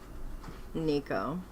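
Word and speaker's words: Necho: What king of Judah was slain by Pharaoh Niko Neco Nicho? Let's Let's look up the pronunciation. Um, Nico. Yeah, I was right at first.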